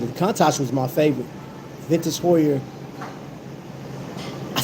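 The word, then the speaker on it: Heuer: Vintage Hoyer.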